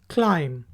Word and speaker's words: climb: Next word है CLIMB, क्लाइम। इसमें भी बी साइलेंट है, इसको प्रोनाउंस करेंगे क्लाइम।